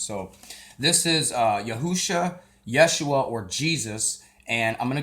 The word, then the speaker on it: Yeshua: are those times so this is uh yahusha Yeshua or Jesus and I'm gonna go also into